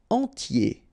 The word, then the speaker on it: entier: Entier. So remember, I-E-R, yé, okay? And then the T, tier, and the nasal before, en, entier.